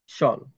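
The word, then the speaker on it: shawl: শেয়াল, শেয়াল, শেয়াল হবে না, এখান থেকে শল বলবেন। শল, শিয়াল নয়, শল।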